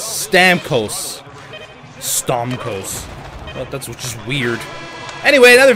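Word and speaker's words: Stamkos: season guy pay attention stort the Co that is not how you say his name it's Stam Co stos that's just weird anyway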